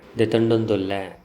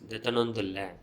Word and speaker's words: detondondulla: Detondondulla. I am taking myself or I am buying. In spoken Tulu it is pronounced as detonondulla.